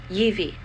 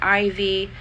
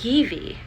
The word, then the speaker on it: Ivi: Ivi. They kept calling her Ivy, Ivan, Eva, that kind of stuff. Her name is Ivi, I-V-I, and it literally translates into strength and energy.